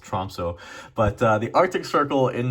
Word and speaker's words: Tromsø: The day after Christmas, I'm going down to, I believe it's pronounced Tromsø, but the Arctic Circle in Norway to go